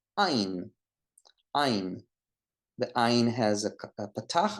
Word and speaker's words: Ayin: The next letter is ein. Ein. It's like A-Y in English, or A-H, Ein.